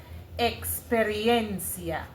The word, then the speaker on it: experiencia: So the E X, right? Even though it sounds like X, the English X sound, it is actually KS that you're saying, Xperia.